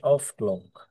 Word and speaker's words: o'clock: যেমন এটা, এরপর উদাহরণটা, ইট ইজ 8 o'clock, এটার ইউজুয়ালি উচ্চারণ হচ্ছে ইট ইজ 8 o'clock। হুম, এখানে অফের জাস্ট অফটা সাইলেন্ট হয়েছে, মানে এফটা সাইলেন্ট হয়েছে, আর ও ঠিক আছে।